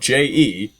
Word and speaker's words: je: pronounced ich, and then the French word for I, spelled JE, is pronounced je, and I have no